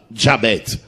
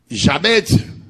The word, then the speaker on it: Jabez: Jabez. Jabez, on les prononce comme ça parce que ça vient de l'hébreu.